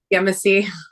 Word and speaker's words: Yemassee: police chief in um I'm going to say it wrong probably is it yamasi yamasi Yemassee yes police chief for Yemassee so